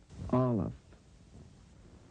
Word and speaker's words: Aleph: Aleph. Aleph. Pronounce the letters after you hear it. Pronunciation. Aleph. Aleph. Look at the letter. Know the letter. Very light breathing sound as in hour and honest.